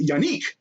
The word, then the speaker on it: Yannick: okay now of course this first name is yanique it's yanik oh my god you won't believe how many times i've seen people mispronounce this dude's last name it's honestly hilarious